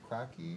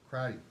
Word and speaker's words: Crotty: Josie Beecher Crocky, is that pronounced? Crotty.